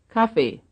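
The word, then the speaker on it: Kaffee: on the other hand the word coffee is stressed on the first syllables just like English coffee 22. coffee 23 as you can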